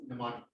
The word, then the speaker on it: mnemonic: By the way, it's the MN. It's forget about the M. You can pronounce it mnemonic.